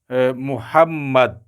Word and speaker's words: محمد: مشدد مفتوح ہے، یعنی ایک تو وہ مشدد ہے، دوسرا اس کے اوپر زبر بھی ہے، اور چوتھا جو ہے وہ ساکن ہے۔ تو اس طرح سے محمد بنے کا یہ لفظ،